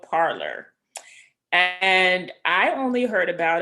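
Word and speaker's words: Parler: the red one and parlor is spelled p-a-r-l-e-r and not o-r and so you actually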